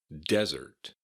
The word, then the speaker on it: desert: But dessert has an emphasis on the second syllable, dessert, and desert has an emphasis on the first syllable, desert.